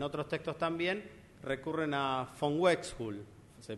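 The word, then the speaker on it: von Uexküll: mesetas y en otros textos también recurren a Von wex hul se pronuncia así Von wul Por qué recurren Y porque es un tipo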